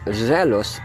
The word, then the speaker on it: zealous: So, ang zealous, pronunciation sa?